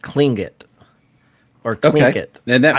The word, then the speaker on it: Tlingit: But I will say, I believe when you see it, it looks like Tlingit or Tlingit. I believe it's pronounced Klingit.